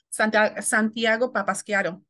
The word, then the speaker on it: Santiago Papasquiaro: So I would say, and I always have a hard time saying it too, Santiago Papasquiaro is how, yes, I say it.